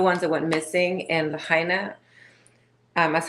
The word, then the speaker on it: Lahaina: babies, those little ones that went missing in Lahaina, that's how I say, I don't have to say it the way you say it. I apologize. Can you teach me how to correctly say Lahaina?